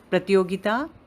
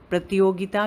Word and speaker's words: प्रतियोगिता: at ease with Hindi, Pratyogita is competition. Pratyogita means competition. प्रतियोगिता का spelling देखिए. प के नीचे रा है, प्र छोटा रा की आवाज़ है.